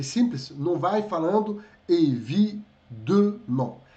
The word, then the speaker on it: évidemment: Porque aqui está escrito com E, mas se E, dois M's nos advérbios, ele se transforma em som de A. Tá? Abondamment, évidemment, e assim por diante, tá?